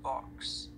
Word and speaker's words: Bhoks: And last name, it's spelled B-H-O-K-S. It's pronounced Box.